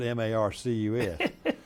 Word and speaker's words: Marques: we ought just put M A R C U S. So if any of you viewers are watching how you say his name is Rhett Marcus by Alabama and Wirerass standards, it's Marcus.